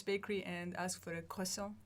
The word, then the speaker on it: croissant: So try to go to Paris Bakery and ask for a croissant. Right. And I'm like, A croissant.